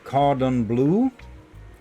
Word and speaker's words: cordon bleu: Cordon bleu is pronounced cordon bleu.